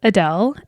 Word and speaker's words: Adel: my mom's name was adele and no not like the singer adele i mean pronounced the same way spelled differently there is no e on the end um my mom was